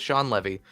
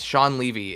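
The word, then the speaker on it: Shawn Levy: deadpool 3 news but sean levy is how you pronounce his name i always thought it was sean levy it's sean levy is set to direct deadpool 3.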